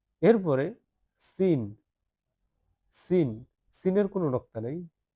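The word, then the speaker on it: س: শব্দ করতে হবে ঝা ঝা ঝা ঝা এরপরে সিন সিন সিনের কোন নক্তা নেই তিন নক্তাওয়ালা এই তিন দাতওয়ালা সিন একটা দাঁত দুইটা দাঁত তিনটা দাত এই তিনটা দাঁত খেয়াল করলে হবে যে সিনের কোন নক্তা নাই এটা সিন সিন এটা সিন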